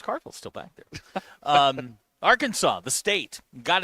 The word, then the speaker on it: Arkansas: still back there um Arkansas the state got its name from French settlers in the region however the word Arkansas is pronounced with silent S at the end of it it was originally Arkansas